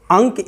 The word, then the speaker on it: अंक: शब्द बोला, अंक, पंक, अंक या पंक शब्द में अनुस्वार के बाद क वर्ण है, तो अनुस्वार का उच्चारण हमने क के पंचम वर्ण के रूप में किया, ङ के रूप में किया, अंक।